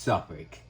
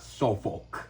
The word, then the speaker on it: Suffolk: It's pronounced Suffolk, not Suffolk.